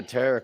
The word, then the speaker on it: tarot: Is that like a carrot? Yes, it rhymes with carrot. It sounds just like it.